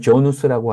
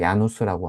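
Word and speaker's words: Jan Hus: 자, 그런데 이 얀후스가 물론 영어로는 조누스라고 하는데 체코 발음으로 야누스라고 하거든요.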